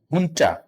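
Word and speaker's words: junta: हैं उसको कहते हैं हुंटा। ये भी जे नहीं है, ये यो या हो के तौर पे प्रोनाउंस होता है, मिलिट्री हुंटा। तो इसको जुंटा कहते हैं।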